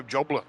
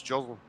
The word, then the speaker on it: Joslin: I keep sort of trying Joe Jobler. I don't know why I get Jobler in there. It's Joslin.